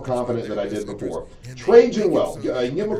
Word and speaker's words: Trajan: Trajan Wealth. Give them a call. It's 1855 traje. That's 1855 traje. And it's spelled T R A J A N.